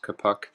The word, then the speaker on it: Kapuk: In the last scenario that we did, there was an instance where Kapuk, as he's pronounced, Kapuk, was sort of surrounded